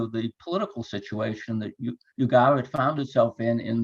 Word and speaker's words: Ugarit: up my mind the the natives usually must have said ugar but in English we tend to put an initial why there uh it's it's more more comfortable with our with our pronunciation habits I think but be